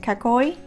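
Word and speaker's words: かっこいい: pencil was so i don't know how to pronounce k-a-k-k-o-i-i k-coy kakoy which in japanese means cool handsome stylish etc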